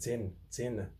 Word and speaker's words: Sinn: But it's they just pronounce it Zinn. It's not really a Zinn, but it's Zinn. It's of a soft Z.